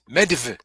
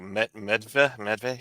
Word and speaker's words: Medivh: don't know how to pronounce that. Yeah. I can't remember how they pronounced it in the movie. Yeah, it was like Medve. Yeah. Medve sounds right.